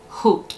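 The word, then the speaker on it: haute: never pronounce it right h-a-u-t it's like hoot but you know i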